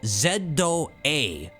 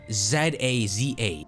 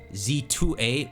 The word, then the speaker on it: Z-A: says Pokemon Legends ZA, but it says the pronunciation right here. It says ZA. So ZA. So we have clarification right there. It's not Z-A, Z2A, which was a big speculation, right?